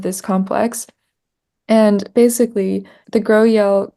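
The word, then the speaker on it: GroEL: versions of this this complex and basically the grow yel grow yes complex so the way you spell that is gr R and then capital e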